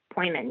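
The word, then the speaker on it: Pojman: And that's pronounced Poyman? Poyman, yes.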